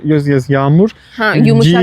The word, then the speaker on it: yağmur: Yumuşak No, G is yağmur. like yes, yağmur. Huh, And yumuşak G- G, okay. Yes, yumuşak G is soft G.